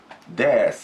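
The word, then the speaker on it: です: And then is in Japanese we say des, we say des. And the last U is again silent in Tokyo and Yokohama area, so just ignore it, des.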